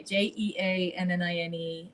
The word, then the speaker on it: Jeannine: Jeannine, and it's spelt the French way, Jeannine, and then is where you can find me on most socials, LinkedIn, Instagram, and Facebook.